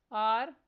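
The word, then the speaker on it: hour: Next word है आर। इसमें silent letter H पर सर्कल करना है।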